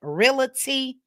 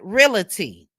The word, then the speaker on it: realty: she's still saying realty, it's not Scott Realty, it's Scott Realty. Somebody just put a cue card up and spell it out. Spell out REAL and just put a dash T. Maybe she'll get it. We know that's not how you spell it, but she can't look at the spelling REALTY and pronounce her business correctly.